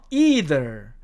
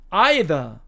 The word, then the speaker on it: either: 첫 번째 단어 미국식 발음으로는요, either, either 이렇게 발음을 하고요, 영국식 발음으로는 either, either 이렇게 발음을 합니다.